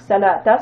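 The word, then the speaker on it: الصلاة: La lettre waou ici ne se prononce pas. Donc ça nous donne sa la. Donc salata, ce sont des prières.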